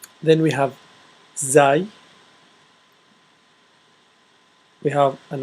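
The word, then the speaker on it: ز: R then we have Z we have an r with a DOT on top and that will be Z it's similar to Z yeah it's actually it's the closest to Zed Z just an arc with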